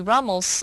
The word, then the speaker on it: Rummel: Rummel who did a comprehensive study of genocides across world history.